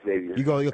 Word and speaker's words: Xavier: It's Xavier. You emphasize the X.